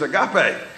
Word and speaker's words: Agape: more more common but even at hospice people still mispronounce our name going to come there see my my name tag or something I see you again what is that it's a gap a and that's the way